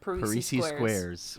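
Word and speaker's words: Parrises Squares: Parisi Squares.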